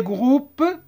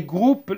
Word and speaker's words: groupes: je vis رأيت des groupes الاسم ما نقروهاش، des groupes او U se prononce OU.